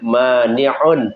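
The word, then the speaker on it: مانع: Kalau ini dibacanya mani'un pakai ain. Nah, makanya jangan salah menyebut mani' pakai ain.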